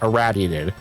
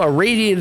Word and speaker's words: irraddyated: But yeah, my name is meant to be spelled or meant to be pronounced erradiated. Also, a radiated is fine as well. Both are acceptable pronunciations.